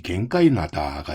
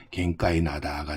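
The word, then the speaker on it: 玄界灘: 이런 표현들을 쓰고 있는데요이 현해탄이라는 말의 일본 발음이 바로이 갱이 나다가 되겠고요 이것이 현해탄 현 계를 같이 쓰고 있는데 발음은 똑같은 갱가 나다가 되겠습니다 즉이 대한해협의 남쪽 일본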